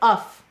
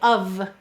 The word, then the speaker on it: of: It looks instead like uff, but we say of.